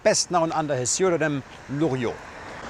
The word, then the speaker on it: Loriot: known under his earldom Luo spelled like this the T is silent he was without any